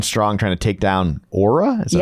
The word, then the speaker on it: Oura: So they're coming on strong, trying to take down Oura?